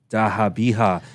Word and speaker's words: Zabiha: Both the young prince's throats were slit open in the method of zabiha, pronounced as dahabiha.